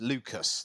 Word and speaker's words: Lucas: when Caroline's Lucas, that's it, Yeah. rhymes with Oh, mucus.